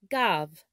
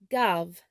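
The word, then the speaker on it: גב: In Hebrew, the word back is pronounced gav, gav.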